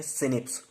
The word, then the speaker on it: snRNP: With the help of SNRNP, जिनसे हम pronounce करते हैं सिनिप्स।